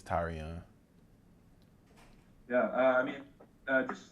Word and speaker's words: Tyrion: called tyrion um it's actually tyrion that's how you pronounce it that's how you it's that's how you pronounce it tyrion like tyrion you know i mean